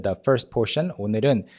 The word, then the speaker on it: 오늘은: So the first one is 오늘은, the first portion, 오늘은. It's the sound as well as the real sound. A lot of people, a lot of learners actually emphasize the real part too much and they end up